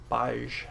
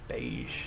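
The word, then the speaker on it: Baaj: So we're gonna go to Baj Temple, or Beige. It's not Beige. Beige isn't spelled like that. It's Baj. Beige is B-I-G-E, like the color, just the color.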